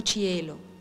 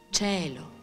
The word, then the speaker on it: cielo: Molti attori non sanno neanche pronunciare la parola cielo. Dicono cielo. E invece si dice cielo.